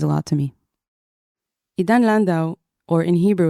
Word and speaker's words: Landau: it really means a lot to me Idan Lando or in Hebrew it's pronounced Lando is a political blogger who began writing his